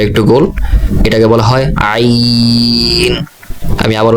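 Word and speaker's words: عين: এর পরবর্তী অক্ষর, আপনি লিখন শৈলী দেখে রাখুন, শুরুতে মাথাটা একটু গোল, এটাকে বলা হয় আইন। আমি আবার উচ্চারণ করছি আইন।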